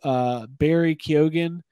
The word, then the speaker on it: Barry Keoghan: It's Barry Keoghan.